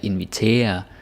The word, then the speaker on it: invitere: or something like that, but no, it's ear. Right? It's two syllables. Invitere, præsentere, kalkulere. Let's do it again. Invitere, præsentere, kalkulere. So it's ear. It's very important. Gotta get this right. Also, this is where the stress is.